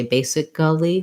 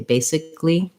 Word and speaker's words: basically: of words like basically we don't say basically we say basically three syllables um okay yeah good